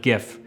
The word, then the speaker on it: GIF: Before we get into all that, let's take a little deep dive into the history of the pronunciation of GIF.